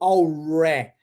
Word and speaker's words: already: Eu vou pronunciar o R embolando a língua. Então eu digo already, ó.